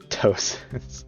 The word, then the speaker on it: ptosis: Ptosis? Well, since we've determined cis is like skin, because Zorosis and the other ones. Tosis. Yeah, basically, that's how you kind of pronounce it.